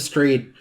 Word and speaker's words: Strahd: Strahd.